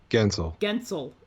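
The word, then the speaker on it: Guentzel: Yeah, all of a sudden you're 15 times Jake Gunsel. How do you say his name? Gensel.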